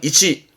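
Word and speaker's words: 位置: 발음은 이치.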